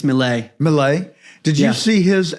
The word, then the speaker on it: Milei: Did I pronounce his name right? Yeah, I believe it's Milei.